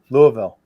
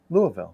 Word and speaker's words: Louisville: Louisville. Bakers. How do you say it? Louisville. Bakers. Louisville. You got it. Louisville. No. Louisville. You got to you got to slur it as much as possible. Louisville.